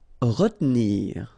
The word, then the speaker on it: retenir: Retenir. Okay, so normally in that situation, well, you've got to pronounce this re, okay, but then you don't insist too much on this here, so it goes like retenir, retenir.